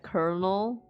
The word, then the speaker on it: colonel: I don't know why it's spelled as colonal but pronounc like colonel.